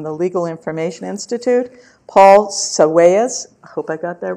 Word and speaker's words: Sawaya: Legal Information Institute, Paul Sawaya, I hope I got that right. No. Tell me because I want it right. It's pronounced Sawaya. Sawaya, Yeah. sorry.